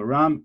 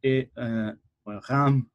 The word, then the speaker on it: Reims: So Reims, Reims, if you can pronounce it properly, is up here in the